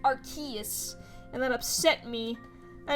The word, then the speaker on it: Arceus: i said it but he was pronouncing it like key like arceus and that upset me